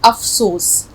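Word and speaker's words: अफ़सोस: अफसोस में उन्होंने भी अपने आर्टिकल में ये डॉट लगाया है, ये बिंदी लगाई है, अफसोस, ठीक है। आप भी याद रखिए अफसोस लफ्ज़ होता है।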